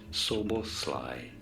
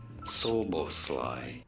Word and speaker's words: Szoboszlai: I think that's how you pronounce it. How do you say it? Szoboszlai. Szoboszlai.